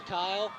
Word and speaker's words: Kyle: change of events there i have to correct you the pronunciation guide says it's josh kyle josh i just want